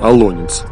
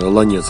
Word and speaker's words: Олонец: нас также не видно нормативные ударение в русском языке на вторую гласный олонец однако ударение на последний гласный аланец распространено присутствует словарях и допустимым маленький аланец он же